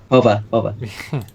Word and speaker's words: Jova: Jova, 2017 to 2017. Hova. Indeed. The Spanish pronunciations are real.